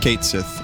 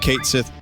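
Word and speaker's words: Cait Sith: protect against frog Ki listen it's Kat Sith I'm sorry I can't pronounce it any other way I've been pronouncing it Kate Sith cat shit my whole life um this character really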